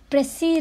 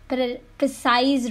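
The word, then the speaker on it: précis: Many people pronounce it प्रिसाइज writing. So guys, पहली चीज़ कि ये प्रिसाइज राइटिंग नहीं होता है, ये प्रेसी राइटिंग होता है. सो बी केयरफुल जब आप इसे बोलते हैं.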